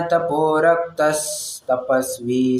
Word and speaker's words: तपोरक्तस्तपस्वी: उच्चारण की तरफ अगर आपने थोड़ा ध्यान दिया होगा तो तपोरक्तस विसर्ग आया है ना, तो उसका स ऐसा इस प्रकार से उच्चारण किया जाएगा, ठीक है।